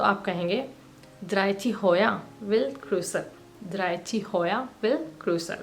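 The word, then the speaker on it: kryds: अगर इंटरसेक्शन है तो इथ क्रिस इथ क्रिस यहां पे आपको डी को प्रोनाउंस नहीं करना है यह साइलेंट है और अगर एक ट्रैफिक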